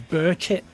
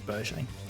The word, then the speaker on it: Berchet: Someone on TikTok said to me that I'm pronouncing Berchet wrong. He said it's Burchit. What? He went, he's Australian, he's not French. No, no, no. First of all, I'm his manager. And his dad's French. So, jot that down. But also, Peter Brackley pronounces it Berchet in the game. So, it is Berchet.